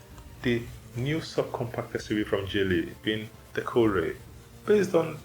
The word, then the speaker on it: Geely: Geely is pronounced the way you say G in OMG and not how you say G in the word Ghutra.